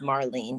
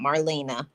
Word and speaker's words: Marlene: to my name right my name is Marlene it's not Marlena I know that's right